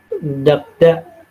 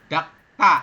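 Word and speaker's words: 닦다: dakda dak betul ya Dakta nah ini dibacanya bu dakda tapi Dakta nanti ini tata bahasa ya sangio ketemu dengan Diget maka ketemunya nanti digetnya dibacanya sang Diget jadi bunyinya te Dakta seperti itu artinya adalah mengelap atau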